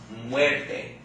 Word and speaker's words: muerte: How many syllables in the word muerte? 2 syllables. Alright? Which syllable has the accent according to our rules? Second to last, right? Which would be la muerte.